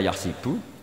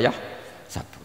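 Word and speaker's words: يحسب: Karena dalam qiraah sab'a ada yang baca yahsibu, qiraah kita baca yahsabu. Tapi guru-guru kita kalau ngajar fikih itu bacanya yahsibu. Tapi kalau baca Quran yahsabu. Ya kan Quran kita kan ayah sabu Allah yaqdiru alaihi ahad, bukan dibaca ayah sibu.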